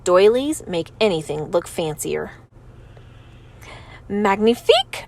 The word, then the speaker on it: magnifique: make anything look fancier Magnifique I say that's French for magnificent you say it like this Magnifique I walk back to